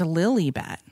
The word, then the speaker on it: Lilibet: no I know but I read an article that said it's pronounced Lily bet well because they want